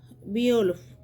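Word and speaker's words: Beowulf: আর অংলো section যুগে আমরা একটা কাব্য জানি যার নাম দেখো আমি এখানে নোটে আছে বি ওলফ এরকম হবে উচ্চারণটা বিউলফ তো ওইটা কিন্তু বিশুদ্ধভাবে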